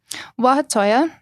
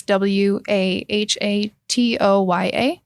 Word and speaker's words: Wahatoya: Wahatoya, and that could be spelled 2 different ways. What I researched in the Comanche dictionary is Wahatoya.